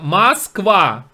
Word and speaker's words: Москва: Поскольку, вот слово Москва, да, вы все произносите на манер Москва. Москва, а пишется через Москва, через О букву. И так молоко, а говорите молоко.